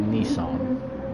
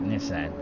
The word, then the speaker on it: Nissan: Now, is it Nissan or is it Nissan? How would you pronounce it? I know the Americans pronounce it Nissan. We pronounce it Nissan.